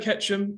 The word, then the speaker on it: Ketchum: don't catch him okay I heard I heard Ketchum I'm giving yeah okay I'll give them the